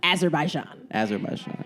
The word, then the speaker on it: Azerbaijan: Azerbaijan.